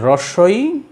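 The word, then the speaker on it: হ্রস্ব ই: একটা হচ্ছে হ্রস্বই মানে ক্ষুদ্র, আর একটা হলো দীর্ঘ, দীর্ঘই। ঠিক অনেকে এই হ্রস্বইকে উচ্চারণ করে রসি, আর দীর্ঘইকে উচ্চারণ করে দীর্ঘি। তো রস্যি দীর্ঘি নয়, এটা হলো কি হ্রস্বই আর দীর্ঘই।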